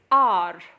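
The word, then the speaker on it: hour: for example an R over here the H is silent so the pronunciation is our it's a vowel sound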